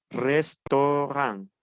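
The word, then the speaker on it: restaurant: español sería o ejemplo restorán acuérdense que la t final no se pronuncia tenemos Otto Y tenemos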